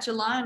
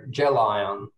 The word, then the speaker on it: Gelion: Why don't we talk about Gelion while we're at it as well then? Well, you've done well to pronounce it correctly, because a lot of people